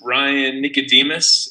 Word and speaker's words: Ryan Nicodemus: hello hello how are you my name is Ryan Nicodemus and yeah I am one of the minimalists